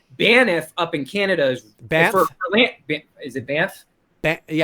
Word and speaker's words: Banff: Although I will say this, Banff up in Canada is Banff. Is it Banff? Yeah, it's like BANFF, Banff. Okay, I'm pronouncing every letter.